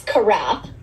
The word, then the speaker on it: Karath: No, it's Karath.